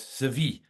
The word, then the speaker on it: Sevi: Just getting the pronunciation right because most people here would probably say Sevi, but it's a bit more um shall we use the word posh than Sevi. It's Sevi.